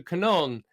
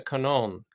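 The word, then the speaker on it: Kannon: Buddhists who had a Devotion to Maria to Canon but that was their Devotion to the Blessed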